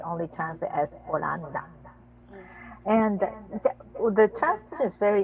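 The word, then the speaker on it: オランダ: but then they don't pronounce H, so it was Hollanda, so that became Holland or Mm. Oranda.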